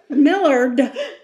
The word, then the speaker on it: Millard: de allen miller is millard miller millard is 27. it's millard millard millard m-i-l-l-a-r-d yeah it sounds like miller to me yeah well they might